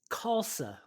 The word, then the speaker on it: Khalsa: pronounce your last name kalsa like salsa like salsa okay but it starts with KH right yeah the H is silent and of course the